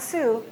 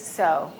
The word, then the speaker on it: sew: a new sewing machine so it's not Sue it's sew and the third word